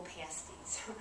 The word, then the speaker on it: pasties: Don't Google pasties. I was doing a class here. And whatever you do, don't Google pasties at work. But I was teaching. Pasties with a short A is what we're after.